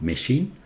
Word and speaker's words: machine: See, it's not machine. Machine. This one.